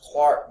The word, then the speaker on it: Clerk: a Scottish physicist engineer named James and it's pronounced Clark Maxwell it's spelled as if his Clerk you